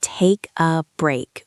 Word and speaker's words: take a break: It's take a break with the stress on break.